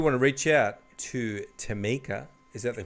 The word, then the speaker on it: Tameka: Well, if you want to reach out to Tameka, is that the correct way to say it? Yes, Tameka and the F.U.N coach.